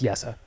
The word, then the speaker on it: Jesse: I mean, I still say Jesse Pugliarvi, so this is a lost cause with me. I know it's Yessa.